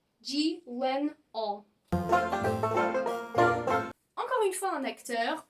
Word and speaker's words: Gyllenhaal: Mais alors, son nom de famille, j'ai entendu beaucoup de Français dire Gyllenhaal, Gyllenhaal, Gyllenhaal. Non, c'est pas si difficile que ça. Au final, il s'appelle Gyllenhaal. Gyllenhaal.